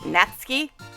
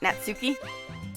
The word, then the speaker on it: Natsuki: I guess that's pronounced natski not natsuki cuz I've heard other people that are more familiar with anime pronounce it as natski so I guess the U is silent but anyway and natski